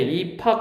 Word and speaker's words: 입학: 입학 발음하면 어떻게 돼? 입학 이렇게 되지.